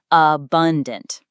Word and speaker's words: abundant: According to the board's annexure, it's bun. Abundant.